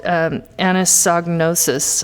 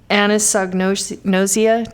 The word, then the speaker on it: anosognosia: But they have this condition called anosognosis. I have the hardest time saying it, but anosognosia.